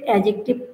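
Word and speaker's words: adjective: আমি উচ্চারণটা কিন্তু এডজেক্টিভ ডি এবং জি যদি পাশাপাশি থাকে ডি এর উচ্চারণ হয় না সেক্ষেত্রে এডজেক্টিভ হবে তো তৃতীয় ভাইয়ের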